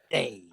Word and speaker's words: Dave: It rhymes with Maeve. Dave.